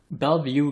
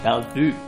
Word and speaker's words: Bellevue: Or Bellevue, as it's actually pronounced. Or would be pronounced if it was a French word.